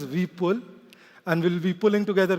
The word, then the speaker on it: Vipul: New Delhi NCR um the special pronunciation for my name is Vull and we'll be pulling together quite a bit of concepts at 3:00 p.m.